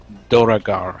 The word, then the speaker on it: Duergar: Duergar, right? Yes. Duergar. How do you spell that? D-U... E R G A R. Durga, okay.